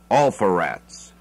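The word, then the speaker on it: Alpheratz: by 3rd base is alpha rats sounds like awful reps but it's spelt ALP h.e.r ATZ all for rats all fur ettes is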